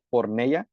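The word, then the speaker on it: πορνεία: pornea, así es como se dice, se escribe.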